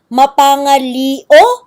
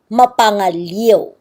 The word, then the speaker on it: mapangaliw: oh, maybe it's pronounced mapangalio. So it's a little bit confusing nowadays when you see this. But at that time, when people saw I-O, they knew that that would be pronounced mapangaliw.